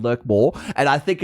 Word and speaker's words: Lurkmore: Not lickmore. Lurkmore. It's pronounced lickmore. No, it's lurk. It's It's literally lurk. It's l U R K, not L I C K.